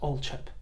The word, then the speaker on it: Althorp: It's Althorp. It's always been Althorp.